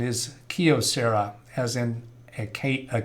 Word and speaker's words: Kyocera: the correct pronunciation is kyocera as in a a key to a house or a car anomalous symptoms encountered problem